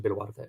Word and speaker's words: Boluarte: So President Dina Boluarte, or you pronounce it in the Spanish pronunciation, Boluarte.